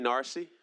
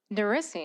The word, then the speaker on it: Narissi: Narcy. Am I pronouncing it correctly? I apologize. Narissi? Narissi, nice. Well done.